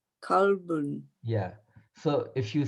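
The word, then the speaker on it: كلب: So calf, the same qalb, if it's pronounced with this letter, that will be kalb. Kalbun means dog.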